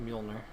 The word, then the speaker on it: Mjolnir: Yeah, I don't know how to pronounce it or spell it, so... Yeah, it's Mjolnir.